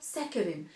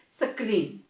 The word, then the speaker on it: saccharin: They make use ऑफ सैकरिन। आप उनको पूछना तो आपको बताएंगे, they will pronounce like सक्रीन, right, it इज सैकरिन।